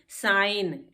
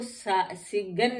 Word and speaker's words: sign: साइन, SIGN। तो हम इसको सिगन नहीं पढ़ते हैं, जी नहीं इसमें पढ़ते हैं, क्योंकि एन से पहले जी है तो ये साइलेंट है। साइन पढ़ते हैं।